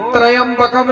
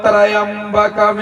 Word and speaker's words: त्र्यंबकम: ओम त्रयंबकम नहीं है। बहुत जने पढ़ते हैं ओम त्रयंबकम यजामहे। त्रयंबकम होता है जब त्रा पूरा होता है। संस्कृत का उच्चारण शुद्ध होना चाहिए। महामृत्युंजय मंत्र में त्रा आधा है ना, कि पूरा है? आधा। इसलिए त्रयंबकम नहीं, ओम त्र्यंबकम यजामहे ऐसे पढ़ना है।